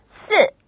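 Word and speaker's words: 四: 잘 구별을 하셔야 돼요 숫자 4는 쓰 쓰 강하게 떨어지고요 숫자 10은 슈 슈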